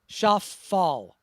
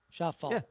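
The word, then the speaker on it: Schauffele: that clip and then John says he definitely says shaf fall sha fall but but Derek is hearing an e like me it's just not a hard lay but there's an e there where's basically Bas where's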